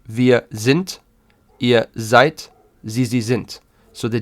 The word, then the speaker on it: seid: And maybe you hear when I'm saying this that the D at the end is actually sounding like a soft T, and it's true. So you would say, wir sind, ihr seid, sie sind.